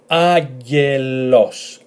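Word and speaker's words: άγγελος: So agelos, agelos. It's like saying agar and los. That they are agelos, agelos, which is an angel.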